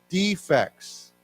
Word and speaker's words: defect: it has a serious defects okay defects but if I change the accent on this word and I say he wants to defect what does that mean